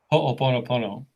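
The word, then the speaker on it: hoʻoponopono: to share with you my first experience with ho oponopono did i say it correctly you sure did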